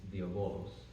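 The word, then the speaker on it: διάβολος: I would pronounce it with modern Greek is diabolos, which, if you break that down, basically just means division.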